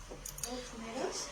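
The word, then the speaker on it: ὀκνηρός: ¿Okneros? Ok con K de kilo, okneros, con acento en la segunda O.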